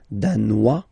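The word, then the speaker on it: danois: okay insist on that Dan don't pronounce the final s Dan here you pronounce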